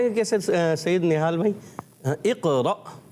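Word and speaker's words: اقرأ: اقرا تو جلدی میں پڑھیں گے، قلقلہ بھی کریں گے. اقرا رکیں گے، اقرا ایسے نہیں کریں گے. اقرا. ماشاءاللہ ماشاءاللہ. پتہ چل گیا کیا ہے درست تلفظ؟ اقرا.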